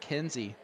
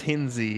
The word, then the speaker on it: Hinzi: johnny lackey and rick hinzi and i'm guessing that you got the pronunciation correct on hinzi yeah yep it's hinzi it's indy um i thought it was hinz yeah but yep it's hinzi apparently as uh ken rip